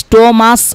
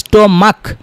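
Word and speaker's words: stomach: কিন্তু এখানে দেখেন এটা স্টোমাস হবে না, স্টোমাক শেষে ক হবে, বা মুনার্ক, মুনার্স, মুনার্স হবে না, মুনার্ক। তো দেখেন এখানে সিএস এর উচ্চারণ ক এর মতো হইতেছে বা মুনার্কের উচ্চারণ ক হইতেছে।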